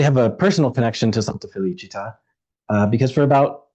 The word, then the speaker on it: Santa Felicita: It's a pet peeve of mine to hear people call the church Santa Felicita with an accent on the last syllable, because that accent makes a world of difference. Felicita with the accent means happiness. Felicita without is the name of a Roman saint whose life was far from happy.